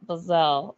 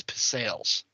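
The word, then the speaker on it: pizzelle: I'm asking yeah pel pizelle pels it is pizel I've had people correct and say no it's pels there's actually a whole you could buy like a whole pizelle making setup yes I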